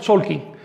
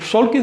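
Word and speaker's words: Tzolk'in: clase pasada hablabas del solking. ¿Podrías compartirnos más info sobre esto?" Bien, debo eh debo escribir la palabra. Miren, Solkin se escribe en la actualidad con Z, pero se pronuncia con S.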